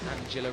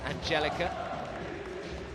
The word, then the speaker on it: Angelica: I think they actually she just said I think they just said my name wrong. Angela instead of Angelica.